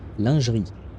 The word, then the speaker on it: lingerie: I don't know how English speakers pronounce that word. I shall pronounce it the French way. Lanri.